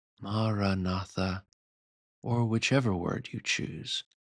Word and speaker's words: maranatha: for Christian meditation suggests is maraa maratha four syllables that mean come Lord in Aramaic the language that Jesus spoke maraa or whichever word you